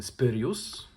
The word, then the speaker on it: Spyrius: uczucia bo jest to seria spus czy jak to w Polsce mówimy spyrius trochę mnie boli ale no dobra ta wymowa seria spus która koncentrowała